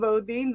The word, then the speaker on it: Bodines: yeah, even though it's spelled differently, I mean, you just pronounce it the same way, the Bodines and then Bodines as well.